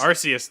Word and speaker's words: Arceus: Madden NFL 2022 and Pokemon Legends Arceus. Is that how you pronounce that one, Scott? On January 28th, 2022. That's Arceus. Arceus.